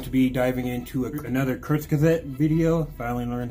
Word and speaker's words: Kurzgesagt: we are going to be diving into another kurtz gazette video finally learned how to say it uh